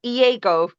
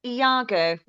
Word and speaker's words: Iago: name right you did you didn't pronounce it EO you pronounced it Iago as it should be yes no Stephen in